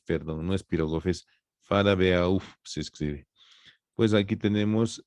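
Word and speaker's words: Farabeuf: El ángulo venoso de de farabf, perdón, no es pirogof, es farabeauf, se escribe.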